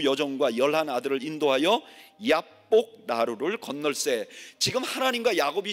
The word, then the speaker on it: 얍복: 얍복 이라는 거를 히브리 원어에 좀 더 가깝게 발음하면 야복이에요.